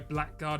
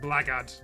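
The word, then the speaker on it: blackguard: No idea where black guard is called pronounced blackard.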